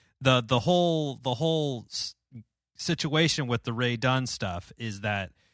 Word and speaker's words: Rae Dunn: So, Ray Dunn, RAE, right? Is how you spell it?